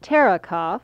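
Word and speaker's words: Terekhov: spelling of your your married name yes it's pronounced tara cough and it's t ER EK hov that of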